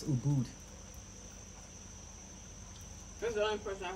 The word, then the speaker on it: Ubud: the guy was like oh boom so it's Ubud that's the only person I heard oh no that's how you pronounce it it's not oh like Buddha what's